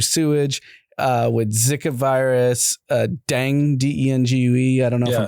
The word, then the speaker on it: dengue: been infected through sewage with Zika virus dang d e n g u e I don't know if I'm pronouncing that right.